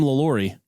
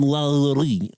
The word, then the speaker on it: Lalaurie: That's that's fancy that's a Well, I'm going to call her Madam Lalaurie. Might as well we're white. Very white. Just get real white on it. But the correct pronunciation is Madam Lalaurie.